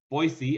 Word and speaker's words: Boise: come over to boise boise as the locals say it and join us for